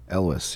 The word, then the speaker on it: Elwes: Elwes, yeah.